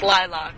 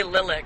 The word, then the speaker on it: lilac: is built lilac trees its lilac that's how we pronounce it okay my luck yeah yeah I've heard people say lilyc and I'm like what